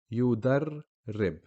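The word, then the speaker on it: يضرّب: So yudarrib. Now if we break it down, we will see that actually the shadda is just combining two ra letters. The first one a sukoon, the second one a kasra. So yudar, that's the ra with the sukoon, rib, the ra with the kasra.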